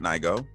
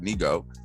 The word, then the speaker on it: Nigo: We have a new album from Nigo, not Nigo, which is apparently a separate artist, but Nigo.